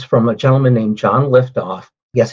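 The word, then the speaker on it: Lyftogt: a gentleman named john liftoff yes it's it's pronounced liftoff but it's l y f i believe it's a dutch name but john is actually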